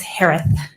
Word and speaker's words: Herath: for the sparkle farts last name is pronounced like Harris with a lisp it's herath h-e-r-a-t-h hi Shay hello